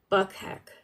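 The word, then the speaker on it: Bukhenik: There's something that we didn't even Yuri Buchanik. I don't know how it's said. Let me see. I know I had, okay. Buckheck is how it's said.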